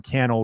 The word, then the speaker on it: Cannell: coffee with Channel show my name is Sean Cannell rhymes with YouTube channel this channel is called